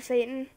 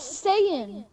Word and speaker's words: Saiyan: That's how you say it, isn't it? No, it's Saiyan. Oh. Dude. Because the race that made those are called the Saiyans.